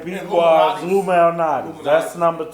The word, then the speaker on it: Lou Malnati's: I say Lou It's Lou Malnati's. Malnati's. Some people pronounce every letter and word in it.